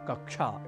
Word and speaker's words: कक्षा: हैं तो ऐसे में इस संयुक्ताक्षर का उच्चारण क्ष या छ ना कर जैसे हम कभी कहते हैं कक्षा कक्षा को तो ये ना कर हम क्ष इस रूप में करें कक्षा इस रूप में करें